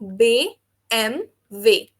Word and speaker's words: BMW: For example dare bay एम way, English में इसको BMW पढ़ेंगे, लेकिन BMW हमारा इंग्लिश अल्फाबेट की प्रोनाउंसिएशन है। जर्मन में हो जाएगा बे एम वे, बे एम वे।